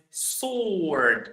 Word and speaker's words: sword: We pronounce this word as sword, not sword. The W is silent.